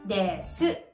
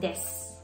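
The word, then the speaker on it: です: Kung mapapansin niyo may vowel di voicing ulit and that is yung word na des. Kung babasahin natin, para siyang des. Pero actually pino-pronounce siya as des at paggalang ito sa Japan kung may des.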